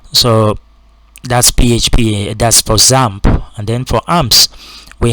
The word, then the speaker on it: XAMPP: you can install that example i believe it's pronounced example i know some people pronounce it x amp but i don't believe that's the pronunciation uh